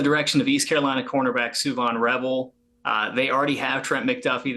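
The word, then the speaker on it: Shavon Revel: Shout out to Josh for pronouncing Suvon Revel correctly. Make a note. It is not Siobhan. It is Suvon.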